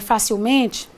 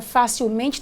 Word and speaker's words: facilmente: tem que lembrar que essa palavra tem sílaba tônica fa mas a palavra de cima não tem você note que a palavra facilmente tem sílaba tônica me que não fa então por favor não